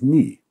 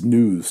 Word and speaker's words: nu: the Greek alphabet is ni. Well, that's news to me. I cracked myself up. Schlin is right, but it's certainly pronounced new by scientists in this context, even the Greek ones I know.